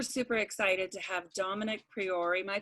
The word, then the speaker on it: Priore: Super, super excited to have Domenic Priore. Am I pronouncing it right, Domenic? Yeah. Yeah, kind of. Priore.